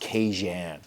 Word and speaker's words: Kajan: So my name is actually pronounced Kajan, for those of you that want to know how to pronounce it.